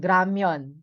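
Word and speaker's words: 라면: Okay, so but the standard pronunciation is R, more of a R ang sound niyan, ng letter niyan, kapag initial position siya.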